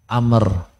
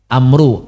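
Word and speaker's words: عمرو: mim ro bacanya Umar Kalau tulisannya Ain mim ro wau bacanya Amr itu bedanya ya Amru Amr maksudnya baik Anna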